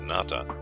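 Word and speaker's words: Nata: of the Aztec story Nat pronounced with the broad sound of the a is not far from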